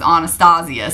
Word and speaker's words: Anastasia: their brows done and she said it was Anastasia so that's why a lot of us that know that probably pronounce it that way we're not trying to be upy or snoody or whatever that's how she pronounces her name so I'd like to pronounce it correctly also a backup again